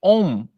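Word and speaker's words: און: abrirão filhos giliar e on filha de peléte on em hebraico né que não se escreve com o Português traduzido com m Mas é em hebraico é com n = ligar e desligar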